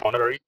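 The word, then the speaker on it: honorary: প্রশ্ন 48, হি was dash অনারারি magistrate. He ওয়াজ অ্যান অনারারি magistrate. এখানে এইচ এর উচ্চারণ শব্দের শুরুতে এইচ উচ্চারিত না হলে তার পূর্বে আর্টিকেল হিসেবে অ্যান বসে।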